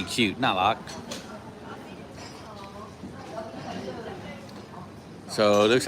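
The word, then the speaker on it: น่ารัก: Nalak.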